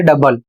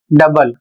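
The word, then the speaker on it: double: जहां ओ साइलेंट हो जाता है। सिर्फ यू का साउंड आता है।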